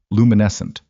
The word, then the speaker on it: luminescent: There's a word in it, luminescent." He said it with the careful pronunciation of someone who had heard it mispronounced repeatedly at volume. "She keeps hitting the 2nd syllable wrong.